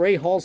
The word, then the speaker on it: Rahal: card IKS view of Graham Ray Hall's 2023 I gotta say it like lady now Graham Ray Hall who